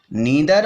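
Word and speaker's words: neither: नीदर of them, ये नीदर पढ़ेंगे, नाइदर भी पढ़ सकते हैं, दोनों ही प्रोनाउंसिएशन सही होते हैं, ठीक है।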